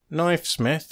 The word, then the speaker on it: Knifesmith: Knifesmith and Christmas don't sound much alike to me, but I think the K used to be pronounced, and Knifesmith and Christmas aren't so very far apart.